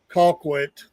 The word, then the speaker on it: Colquitt: hey, there's and it was in the Colquitt.